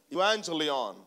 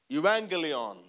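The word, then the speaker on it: euangelion: And it is sometimes pronounced as evangelion or evangelion.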